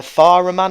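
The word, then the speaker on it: Fährmann: net we have uh far a man I believe is how it's pronounced um he's got 78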